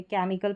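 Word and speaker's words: chemical: यहां पर भी सी के बाद में एच है। ये साइलेंट है। इसको भी केमिकल नहीं पढ़ते। केमिकल प्रोनाउंस करते हैं।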